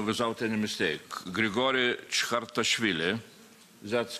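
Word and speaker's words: Chkhartishvili: And of course, Boris AKUNIN, well, I will try to pronounce real name without any mistake. Grigory Chkhartashvili.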